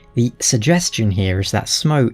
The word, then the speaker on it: Smough: But from the research I've done, the suggestion here is that Smough is pronounced just like that, Smough, with a little emphasis on the U.